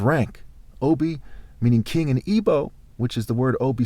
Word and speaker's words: Igbo: Obi meaning king in Ebo, which is the word Obi spelled backwards. It can be spelled IBO and IGBO where the G is silent.